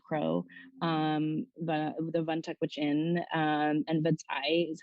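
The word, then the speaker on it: vadzaih: And so, certainly when you go to a community like Old Crow, the Vantak Gwich'in, and Vatai is how you say caribou in Gwich'in, that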